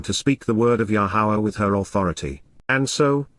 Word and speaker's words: Yahowah: stand present, Amod, before, Al-Yahowah, Yahowah, the proper pronunciation of Yahowah, our Eloah, God as directed in his Torah,